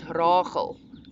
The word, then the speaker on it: Rachel: In my own language, it's pronounced Rachel, guttural G, Rachel.